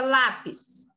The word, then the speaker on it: lápis: fábrica aqui nessa linha a palavra lápis a sílaba mais forte é lá então o PIS é a última sílaba e lá é a penúltima sílaba quando a penúltima sílaba mais forte essa palavra é paroxítona você vem aqui escreve